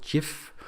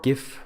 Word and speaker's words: GIF: So the animation files in the ortho system is a file extension called GIF or GIF. It's pronounced both ways, GIF, and it's an animation file format that is literally supported by pretty much every computer in the world.